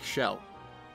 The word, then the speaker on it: Kjelle: Well, you might, but the correct pronunciation is more like Shell.